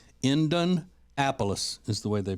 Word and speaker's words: Indianapolis: area so I do know that it is pronounced indanapolis indanapolis is the way they pronounce it so anyway